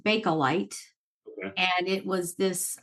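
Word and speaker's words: Bakelite: for a short time okay um it's actually pronounced balite okay and it was this um material that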